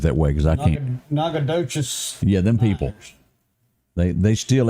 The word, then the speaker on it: Nacogdoches: in Louisiana, they pronounce it Nacogdoches. Nacogdoches. Across the state line, it is pronounced Nacogdoches.